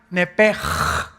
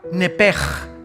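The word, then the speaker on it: נפש: La palabra, la letra o las letras sh en del hebreo se pronuncian en hebreo como J. Entonces se pronuncia nepj.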